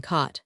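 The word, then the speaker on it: Coate: 6, 1848 at the farmhouse of coat. You may pronounce it if you please, in Wilchshire fashion, cot.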